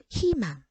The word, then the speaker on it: 희망: 3번도 의라는 이중모음이 자음을 첫 소리 가지고 있어요. 무조건 이로 발음해야죠. 희망.